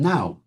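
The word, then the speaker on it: know: So is the W in a words like answer and swer and swer. They're silent now, those letters, but they weren't silent in those days, nor were they silent in Chaucer's time.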